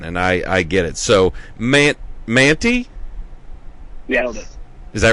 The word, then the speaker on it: Mantey: But I've got Gus and Max Mantley. How do you say that? You said Stella always mispronounces it. So Manti. I knew that, but then the L creeped in there.